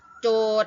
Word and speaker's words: โจทก์: ศาล ผู้ กล่าว หา โจทก์ อ่าน ว่า โจทย์ หมาย ถึง คำ ถาม